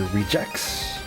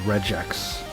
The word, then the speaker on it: regex: The top 3 seem to be rejects, redgex, and regx. Hard G on the last one. My pronunciation is pretty close on those last 2, but I would say I tend to lean towards the last one. I tend to go towards regex. Like an egg.